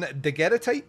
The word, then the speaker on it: Daguerrotype: So we are doing Daguerrotype from 2016.